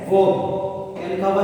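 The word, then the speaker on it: verb: क्या लिखा हुआ है, वर्ब। ध्यान रखिए ये वर्ब नहीं होता, क्या होता है, वर्ब। क्योंकि आर के पहले ई नजर आए तो उसको अपन आर को क्या रखेंगे, साइलेंट रखेंगे।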